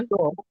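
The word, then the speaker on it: это: এতো এতো ময়া এ, সিমিয়া। হ্যাঁ, সিমিয়া। এতো মায়া পাপা। এটা মই পাপা, ভাই এটা হবে এতা, এতা আ উচ্চারণ হবে, এতা এটা ময়া মামা।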